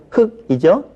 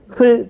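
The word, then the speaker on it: 흙: 자, 리을 기역. 흑이죠? 흘 그럽니까? 안 그러죠? 예, 리을 기역은 뒤에 이렇게 발음된다.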